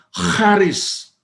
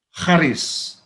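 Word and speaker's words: χάρις: set cantumkan bukan sabis Tapi bacanya Harris itu huruf yang mudah seperti X itu bukan X itu bunyinya high Kharis nah dalam Perjanjian Lama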